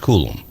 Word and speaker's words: Coulombe: And it's Coulombe, pronounced Coulombe.